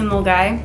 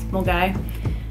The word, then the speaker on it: Milngavie: and take it to mulgai which is spelled miln gavey but it's molgai and you can start